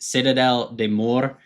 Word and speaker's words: Citadelle des Morts: you can see it for all those who don't speak French it's pronounced Citadel de Moore don't mess this up